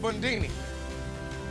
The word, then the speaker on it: Bundini: I'm called Bundini. Rhymes with Houdini.